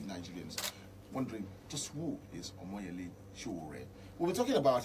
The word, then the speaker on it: Omoyele: Omoyele Soworeon. Omoyele Soworeon is the founder of Sahara Reporters.